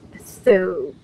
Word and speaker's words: thobe: Thobe, like robe. Thobe, robe. It rhymes with robe.